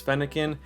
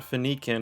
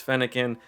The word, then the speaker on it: Fennekin: um but yeah first before we start uh pronunciation of the day is fennekin the fox pokemon so you know talking about